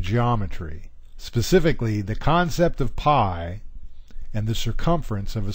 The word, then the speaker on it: pi: cherry pie I love the concept of blueberry pie and I'm particularly crazy about the concept of